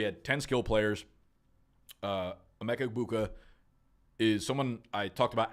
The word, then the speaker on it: Egbuka: We've got Amecha Ibuka. G is silent, all right?